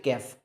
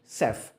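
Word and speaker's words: chef: तो इसकी सही प्रोनाउंसिएशन होगी सेफ। लेकिन सर, यहाँ पर तो अलग लेटर लिखा हुआ और मैंने तो सुना कि इसकी प्रोनाउंसिएशन कैफ होनी चाहिए। नहीं नहीं, इसकी तो सेफ होनी चाहिए।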